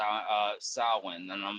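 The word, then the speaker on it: Samhain: not how it's meant to be pronounced it's pronounced s uh sin and I'm like then change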